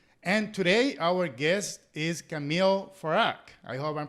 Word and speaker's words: Kameel Farag: tune in etc and today our guest is camille farak i hope i'm pronouncing your name correctly camille perfectly perfect very